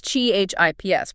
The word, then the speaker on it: CHIPs: And that's CHIPs, pronounced just like the American snack, right?